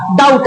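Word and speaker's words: doubt: लिखा होता है डाउट, लेकिन पढ़ते हैं क्या डाउट, तो यानी डी साइलेंट हो रहा है ना।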